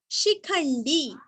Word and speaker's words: शिखंडी: शिखंडी, शीरस्व ख के ऊपर आघात, बाण का ण और दीर्घ, शिखंडी, शिखंडी।